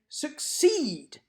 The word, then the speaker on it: succeed: or do we say succeed I would argue that we say succeed and we stress the second syllable and former like warmer